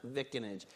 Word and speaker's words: vicinage: We have a debate about whether that's in New Jersey, that's definitely pronounced vicinage. I'm told there's an alternative pronunciation of vicinage, but I am not clear on that.